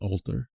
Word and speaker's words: halter: But if you were an Eastender or a Londoner pronouncing halter, you wouldn't pronounce the H like I have done. You would just drop it. So it would be alter.